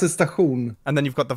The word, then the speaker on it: station: We pronounce it stachun.